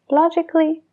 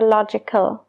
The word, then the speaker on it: logical: como en las palabras logically, basically, musically. Tenemos la palabra logical, como en practical, sí que se pronuncia la A, logical. Pero con el sufijo es logically. Ya no se pronuncia esa A. Logically.